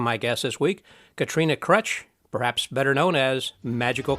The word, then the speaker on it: Kroetch: when we first met you said it was crutch like a crutch like someone would uh use a crutch right yeah